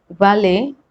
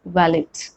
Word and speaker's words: valet: But before we move ahead, just remember that often can also be pronounced as often, and same way valet as valet. Both the pronunciations are right.